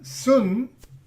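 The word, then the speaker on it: σύν: Porque la palabra sun, y que se pronuncia sin en español, pero en griego es sun, quiere decir con o juntos.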